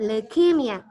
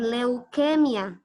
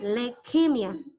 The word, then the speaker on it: leukemia: Cara ucap leukemia, bukan leukemia. Tapi tidak bunyi U-nya, leukemia. Le ditekan, leukemia.